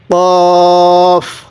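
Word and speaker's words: ق: আমার সাথে আপনিও বলবেন কফ কফের উপরে দুই নক্তা কফটা উচ্চারণের সময় একটু ধাক্কা দিয়ে পড়বো আমার সাথে পড়ুন কফ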